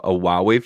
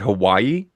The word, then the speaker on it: Huawei: It was like his second time reviewing a Huawei phone, and he didn't know how to pronounce it. He called it Hawaii.